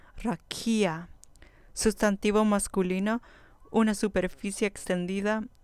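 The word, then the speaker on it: רקיע: Rakia. Rakia. Con acento en la penúltima sílaba. Rakia.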